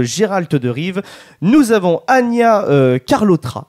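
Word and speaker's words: Anya Chalotra: de rive nous avons Ania carlotra je pense que ça se prononce comme ça dans le rôle de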